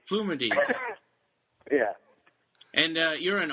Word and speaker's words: Plumides: plumides plumides plumides okay actually the Greek the Greek pronunciation is plumides ah and so so we just kind of we just say it with a sou accent plumides plumides yeah and uh you're